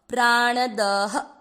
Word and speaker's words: प्राणदः: ण अ मिक्स करना है प्राण, एंड देन द में अ मिक्स करना है प्राण द में अ की मात्रा तो विसर्ग को पढ़ना है ह। प्राण दह, प्राण दह।